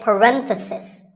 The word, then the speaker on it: parenthesis: If you talk about just one bracket, you say parenthesis. The stress is on ren.